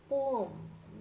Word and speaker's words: poem: बच्चों ध्यान रखेंगे, ये पोएम इंडियन कल्चर में हम लोग इसको पोएम बोल तो देते हैं आसानी से, but actually पोम like that इसका प्रोनाउंसिएशन है।